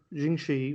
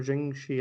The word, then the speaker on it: Jiangshi: if you watch any jinxi or jing shi i think it's pronounced uh films is because